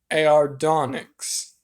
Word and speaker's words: Aardonyx: it is called the ardonics now the ardonics um elite i think that's how it's pronounced stardonyx it's like aardvark only onyx instead of bark right um so to